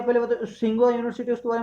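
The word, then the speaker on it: Tsinghua: तो जो ये यूनिवर्सिटी है वो क्या है, तिसुंगुआ यूनिवर्सिटी नाम है, मतलब सिंगुआ, सिंगुआ टी साइलेंट रहता है, सिंगुआ यूनिवर्सिटी है।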